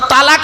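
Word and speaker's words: طلاق: শব্দ আছে কথা বলব আরবিতে এই তালাক আর তলাক মনে আছে শব্দটা তালাক নয় শব্দটা হল তলাক স্বামী স্ত্রী ঝগড়া করতে করতে কি দেয় তালাক দেয় না ওটা তালাক নয় শব্দটা লাম বাংলা উচ্চারণ তলার ক আরবি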